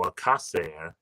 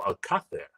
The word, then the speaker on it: Alcácer: interview mentioned, like he's saying Paco Alcácer, which is like American Spanish, or like Latin American Spanish, makes it easier. However, he's from Spain, so his name would be Paco Alcácer. That's how you say his name properly.